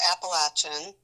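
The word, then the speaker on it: Appalachian: Also at NC State, Paul went to Appalachin, which is how we pronounce that school in the mountains um, in North Carolina.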